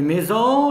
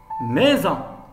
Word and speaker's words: maison: voyelles se prononcent êtes le s entre deux voyelles se prononcent z il faut lui ajouter un ace pour se prononcer s exemple maison maison regardez bien le